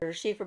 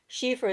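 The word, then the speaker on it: Síofra: the whole name together sheifer bradigan is Spirited elf so sheifer is actually the elf part anything with an SI that's pronounced she is going to be related to the she the S DH uh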